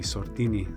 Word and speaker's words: Sordini: Have I pronounced the surname correctly? Sordini.